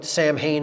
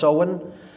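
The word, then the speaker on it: Samhain: in the mid midpoint of fall is seen pronounced sewen. It looks like Sam Hayne in English but it's pronounced sewen uh in Gaelic and that is Halloween or hollow mass October 31st.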